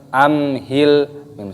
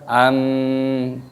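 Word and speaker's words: أمهلهم: ini dua ketukan kafirina amhilhum sukun bertemu dengan huruf ha itu dibaca izhar syafawi jadi cara membacanya tidak boleh kita mendengungkan harus dibaca jelas amhilhum tidak boleh kita baca ampe tidak boleh amhilhum lainnya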